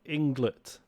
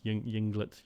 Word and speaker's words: Ynglet: worth talking about is i'm gonna pronounce it inglet spelled with a y y n g l e t england yinglet junglitz um this is